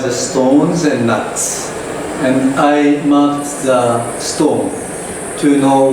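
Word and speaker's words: Ai: uh that is called I project because of the uh female chimpan named I spelled a i pronunciation is I and the meaning is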